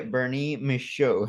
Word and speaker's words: Bernier-Michaud: I know it has some uh F French pronunciation but uh Zachary and then ber Mish there you go Zachary Bernie misho now Zach when did you join us for